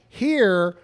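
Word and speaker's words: hir: e or x e h iir is pronounced like here for example Chris ate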